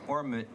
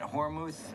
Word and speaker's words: Hormuth: jeanette here oh jeanette hormuz yes there's a t-h and i didn't have an h over here yes uh jeanette hormuth and you are testifying